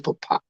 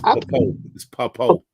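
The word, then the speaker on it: Pappoe: I think it's Papa. It's Papo. Papo.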